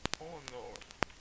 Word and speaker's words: honor: Então, por exemplo, N, honor, é uma honra, honor. Então você vê que o H aqui é mudo.